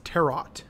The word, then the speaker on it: tarot: You're saying it wrong. What? It's tarot. I fucking hate you. Like tarot, like Kakarot.